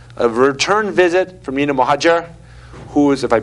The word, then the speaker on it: Mohadjer: and we have a return visit from Nina mohajer who is if I pronounced that right hopefully yes good hey I'm